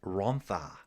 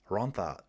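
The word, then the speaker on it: Rhondda: Yeah, spelling Rhonda, pronounced Rontha. Rontha. Welsh is a fact.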